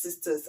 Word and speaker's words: Cistus: It's CISTUS. I believe it's pronounced sisters. I might be wrong, and those two notes are sort of reminiscent of leather, leather notes.